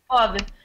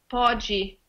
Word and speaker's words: pode: In Brazil, it could be instead of pod, I think they say podgy.